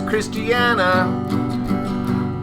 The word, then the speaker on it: Christiana: Her name is Christiana, which rhymes with our super mail woman, Deanna, Yes.